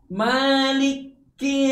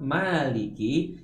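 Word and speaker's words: مَالِكِ: Kemudian yang sering terjadi kesalahan juga adalah mentasdidkan huruf kaf. Maliki yaumiddin. Padahal huruf kaf di kalimat maliki tidak ada tanda tasdid. Oleh sebab itu tidak boleh double, ya.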